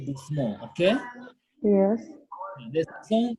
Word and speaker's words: doucement: We say doucement, okay?